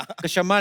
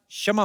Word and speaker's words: क्षमा: कशमा नहीं क्षमा होता है।